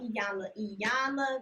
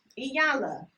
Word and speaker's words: Iyanla: I had to talk about Iyanla Vanzant. I said her name right. I did. Okay. I had to make sure I said it right because I always say it wrong. Iyanla.